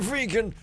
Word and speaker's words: vegan: So we get to stop being a vegan. Oh! It's pronounced vegan for some reason, even though vegetable is like veg, so you'd think it would be like vegan.